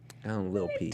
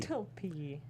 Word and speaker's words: Lil P: I think you're pronouncing the T a little too hard on that. Lil P. Little P. Little P. Take out the T's.